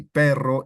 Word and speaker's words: perro: So perro, when you have 2 R's, it sounds quite larger than when you have 1 R in the example ropa. Ropa is nice and loose ropa, and perro or arroz that has 2 R's, it elongates quite a bit.